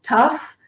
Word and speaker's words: tough: Então, gente, é para observar que essa combinação de letras O, U, G, H tem essas quatro pronúncias diferentes. Tough, bow, cough, and dough.